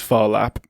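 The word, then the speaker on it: Phar Lap: The horse in question of course is Farlap which as you mentioned is a great name. That's spelled P H A R L A P.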